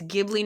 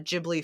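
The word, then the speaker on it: Ghibli: then at the bottom it says all three of these meanings are pronounced with a hard G Miyazaki decided to pronounce his Studio as uh uh jibli for us non-japanese speakers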